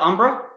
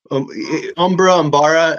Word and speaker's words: Umbara: I was looking for a Pong krill, and I Googled images, and that one came up because Battle of Umbra? Umbara. I find with Star Wars, everybody pronounces everything different, but I feel it's all right because George Lucas changes it up.